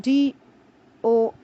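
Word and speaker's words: dough: then there is the word do d o u g h pronounced as do from which bread or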